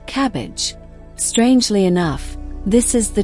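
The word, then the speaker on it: CABG: In more complex cases or when multiple arteries are involved, doctors may recommend coronary artery bypass grafting or CAB, pronounced cabbage.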